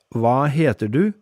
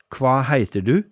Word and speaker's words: hva heter du: Indeed, the phrase hva heter du may be pronounced more like hva heiter du in certain parts of the country.